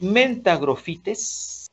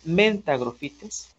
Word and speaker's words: mentagrophytes: Si hablamos del género Trichophyton, está Trichophyton mentagrophytes, así se pronuncia, mentagrophytes.